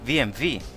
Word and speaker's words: BMW: It's BMV. That's BMW. That's how the Americans say name it, but the Europeans call it BMV.